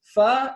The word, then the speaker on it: Pho: the 10 worst, but you pronounce this Fa, and this is King.